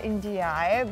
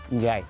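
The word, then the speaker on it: N'Diaye: And I said N'Diaje, but your surname is pronounced in a different way. Is it N'Diaje? Njai.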